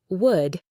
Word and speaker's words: would: Would. You only hear would.